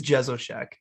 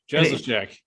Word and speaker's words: Jesowshek: The last name is Jesowshek. Jesowshek. Yeah, just like it's spelled.